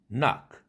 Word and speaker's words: knock: 라고 많은 예를 들겠지만 그때에는 그 사운드가 사일런트가 됩니다. knife, knock, knee 이런 식이죠. knife, knock 이렇게 하지 않죠.